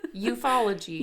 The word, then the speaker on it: ufology: UFO ology or so that's how it's spelt it's UFO edgy it literally just looks like mythology ufology ufology yeah that's a